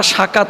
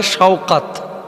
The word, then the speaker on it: শওকাত: হয়েছে সাকাত গাজী তো বাংলা ভাষাভাষীরা আমরা আসলে উচ্চারণ ভুল করে থাকি নামটা সাকাত হয় না হইতে পারে শওকাত এটাকে আমরা বাংলাদেশে যে